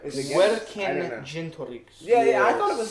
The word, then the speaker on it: Vercingetorix: I don't know why, but I thought it was like a soft G. I don't know. Is it either? Or is it like Vercingetorix. Vercingetorix.